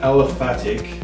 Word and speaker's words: aliphatic: So basically, a rubber molecule is a, I'm going to mispronounce this, an aliphatic, I'm going to go with that pronunciation.